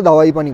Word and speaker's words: Dawaipani: আই দাওয়াই দাবাই পানি তো এটাকে সবাই প্রোনাউন্স করে দাওয়াই পানি বলে ওকে তাহলে একটু ডিটেইলসে